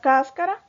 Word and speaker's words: cáscara: yo debo tildar la la palabra cáscara tiene el acento en la sílaba cas verdad está en la antepenúltima posición y por qué latiendo